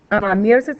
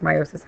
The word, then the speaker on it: meiosis: into the next generation meosis is the gam or actually pronounced meiosis I apologize the gamet formation